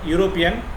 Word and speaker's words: European: Though the word European begins with E, which is essentially a vowel letter, but while pronouncing, we begin the word with Ya, European.